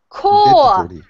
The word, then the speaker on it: corps: Like okay, and the pronunciation, everybody, for this word is actually core.